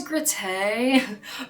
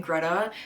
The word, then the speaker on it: Grete: So, Gregor Samsa lives with his mother, his father and his sister Greta, which I was reading as Grete, but I looked up how to pronounce it and it was saying Greta.